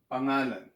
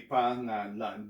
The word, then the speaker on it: pangalan: So I syllabicated it this way, but this is not the proper syllabication of this word. It's supposed to be pangalan, but to help you pronounce it, I'll go pangalan. Okay, pangalan. So if you pronounce it fast enough, you would say pangalan, pangalan.